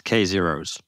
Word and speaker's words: k0s: how do you say how do you prefer to say k0s or k Zer or what do you think is the right way to say that this is this is the big question that everyone wants to know the answer to think it's K zeros K zeros just K Zer plural kzer K Zer y